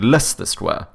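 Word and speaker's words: Leicester Square: in in London like you assume it would be like Lester like this or some no it's l sest square right yeah L sister square but it pronounce it less the square it's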